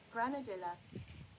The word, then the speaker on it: granadilla: Granadilla. Granadilla. Okay. I just assume something Spanish like granadia. You know what I mean? But granadilla.